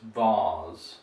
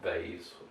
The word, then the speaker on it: vase: in american english but we pronounce this with a long r sound so it's vars and not bays or any other pronunciation